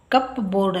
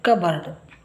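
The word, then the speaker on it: cupboard: videos ಕಪ್ ಅಂದ್ರೆ ಬಟ್ಟಲು ಇದು ಕಪ್ ಬೋರ್ಡ್ ಅಲ್ಲಿ ಅಲ್ಲ ಇದು ಕಬೋರ್ಡ್ ಇಲ್ಲಿ ಪಿ ಸೈಲೆಂಟ್ ಕಬರ್ಡ್ ಕಪಾಟು ಇಲ್ಲಿ ಕೆ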